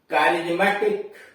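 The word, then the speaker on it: charismatic: इसके अलावा सी एच ए आर आई एस एम ए टी आई सी, कारिज्मेटिक, सी एच ए आर आई एस एम ए टी आई सी, कारिज्मेटिक यानी करिश्माई।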